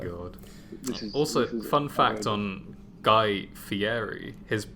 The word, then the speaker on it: Guy Fieri: sure it's my god also fun fact on guy fieri his name is actually pronounced guy fieri for those who didn't know that oh fieri